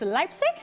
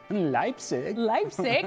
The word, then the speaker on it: Leipzig: Bayern Munich against Leipzig? Leipzig. I was trying to say it like our Derek Ray, but I don't think it came off very well.